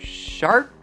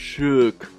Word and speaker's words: Shark: your name is mr shark actually it's pronounced shook oh sorry anyway it